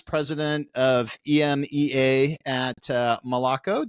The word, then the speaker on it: Moloco: of emea at uh Malako did I pronounce it correctly how do you guys pronounce that company name I I guess miloco okay so um yeah